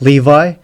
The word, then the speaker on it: Levi: so just realized that levy's name is supposed to be pronounced levi at least in the anime so uh yeah from